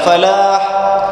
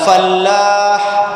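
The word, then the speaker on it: فلاح: tak buat benda ni Hayya Alal Falah jangan baca Hayya Alal Fallah jangan disabdukan lam tu Hayya Alal Fallah ejaan dia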